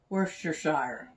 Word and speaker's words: Worcestershire: crazy some worcestershire i don't know if i'm worcestershire yeah that's how you say it put a